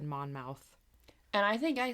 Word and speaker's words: Monmouth: It's pronounced Monmouth, which I think I probably was saying it wrong. I think I said Monmouth.